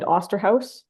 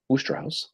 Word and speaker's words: Osterhaus: Oosterhouse. Oosterhouse. Right? Yeah, is it Oster or Ooster? I've always pronounced it Oosterhouse. But it says Osterhaus, but I know people call it Oosterhouse.